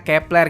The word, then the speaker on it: Kep1er: nama grup ini kan ditulisnya ke-1 er dibacanya Kepler gitu dalam orange dipermasalahin